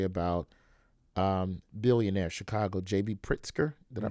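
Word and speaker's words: Pritzker: telling a story about um billionaire Chicago JB pritsker did I pronounce it I pronounce it right yes he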